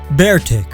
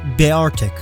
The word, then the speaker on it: Beartic: Beartic. It's a bear, so why would you pronounce it Beartic?